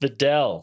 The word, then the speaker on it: Videl: cringed so much that I just like vomited forth the correct pronunciation Yeah. because I couldn't stand it. So Videl.